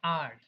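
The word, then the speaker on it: erg: তাহলে সিজিএস এ শক্তির নতুন একটা ইউনিট আছে, এটাকে আমরা বলি আর্গ, ইআরজি। ঠিক আছে? এটাকে আমরা উচ্চারণ করি হচ্ছে আর্গ দিয়ে।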